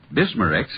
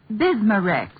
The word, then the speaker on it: Bismarex: And finally, Bismarex leaves a soothing protective covering on irritated stomach membranes. Well, I'll have to remember that. Bismarex. Is that how you say it? That's right, ma'am. BISMA-REX.